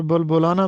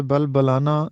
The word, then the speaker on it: بلبلانہ: دوسرا لفظ ہے بلبلانہ، اس کو عام طور پر بلبلانہ پڑھا جاتا ہے جو کہ غلط ہے۔ یہ لفظ ہے بلبلانہ یعنی اونٹ کا مستی